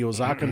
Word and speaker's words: Oaxaca: And now we're gonna do it's a 1/4 ounce of the Oaxacan chocolate syrup, right? Ooh, Yeah, that's Oaxacan. Actually, Oaxacan? Sam can probably pronounce it better than me.